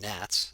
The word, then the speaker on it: gnats: done this with with gnats the g is silent of course we say that nats are trapped in a